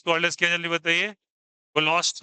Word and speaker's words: Kohlrausch: कोलोस्ट लॉ। Are silent होता है।